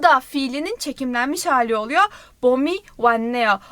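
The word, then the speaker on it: 봄: bom bom bom neydi bom B sesi o sesi ve M sesi ile yazılıyor bom diye okunuyor ve ne anlama geliyor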